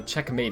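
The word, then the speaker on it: Checkm8: this thing called uh checkmate it's spelled like check and then m8 just because it's funny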